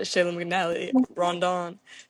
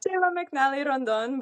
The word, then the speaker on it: Cheyla McNally Rondon: Um, this week we have my friend and future roommate, uh, Shayla McN Rondon, who is, how do you say your name? Is that it? Shayla McNal Randon, but close. I can't roll my ars, but I'll learn.